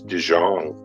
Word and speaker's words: De Jong: that first name is last name is dijon and do you pronounce um say that again your pronouns